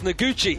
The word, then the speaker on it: Noguchi: And our championship leader, Haruki this is going to be the problem today, is the pronunciation. No problems at all, Ben. It's Noguchi.